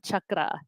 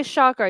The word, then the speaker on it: chakra: You don't say chakra, you say chakra. It's called chakra. Chucky as in Chucky the Bride. Or Chuck Norris. I'm going to chuck you out.